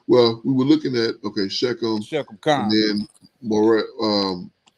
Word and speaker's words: Shechem: See how they pronounce it. That's always interesting. Oh, this is like Shechem. Strong's 87927. Shechem.